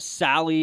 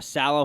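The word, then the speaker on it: Saleh: So they're going to give it to Robert Sally or Sallow, however you say his name right now. Salah.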